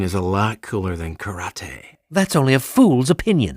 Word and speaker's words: karate: to kick each other actually it's pronounced karate and there's a lot